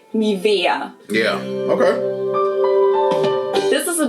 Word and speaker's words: Nivea: Nivea. So the emphasis is on the E. Nivea.